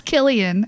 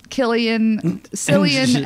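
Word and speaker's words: Cillian: Murphy San Murphy and Sarah was like lol it's Killian and I was like oh I guess that makes sense cuz he's Irish but I have said San with a c with a soft C so Killian San and jaac Quinn I was like it's not right but that's what my brain is reading it phonetically in my head and I'm like Jo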